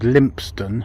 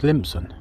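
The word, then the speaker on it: Lympstone: directly opposite me there's a place called limpston but did you know that it's referred to some as limpson limpson no limp stone just limp some and some of you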